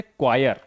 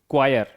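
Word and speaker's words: choir: देखिए अगला है हमारा जब एच के पहले सी या जी हो तो एच का उच्चारण हम नहीं करते। देखिए एच के पहले सी या जी हो। देखिए एच के पहले सी एच के पहले सी। ठीक है? देखिए एच के पहले सी और एच के पहले जी। सी या जी हो तो हम उच्चारण नहीं करते। एच को आप भूल जाइए।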